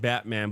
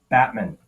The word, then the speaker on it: Batman: And I know I said Batman, but it's actually pronounced Batman.